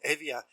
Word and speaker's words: Hevia: I mean, I was introduced a number of years ago to a musician called Evia. It's spelled Hevia.